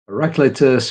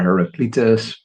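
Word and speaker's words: Heraclitus: First one is from an ancient Greek depending on how you want to pronounce his name. Heracleus or Heracletus as we put the accent.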